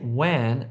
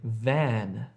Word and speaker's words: van: Don't say wan, say van. Wan, van.